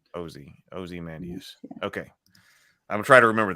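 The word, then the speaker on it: Ozymandias: certain pronunciation o zus so it's O not a ozy mandus oim mandas yesus okay so oie like not aie like Osborne oie oie mandus okay I'm try to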